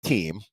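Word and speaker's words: Thiem: Christopher wrote for uh the last name spelled t-h-i-e-m but I checked a couple seasons ago and was assured that they pronounce it team like sports team so taking a look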